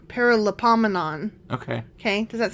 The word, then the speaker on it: Paralipomenon: But it's got a lot of syllables in it. Yeah, okay. Okay, it's a Paralipomenon. Paralipomenon.